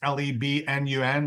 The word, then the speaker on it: Lebanon: It's pronounced Lebnun, Lebanon.